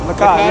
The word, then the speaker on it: Lacad: Lacad, yeah.